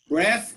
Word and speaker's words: breath: take my breath away breath is a noun okay we pronounce breath but the verb is breathe okay so breathe deeply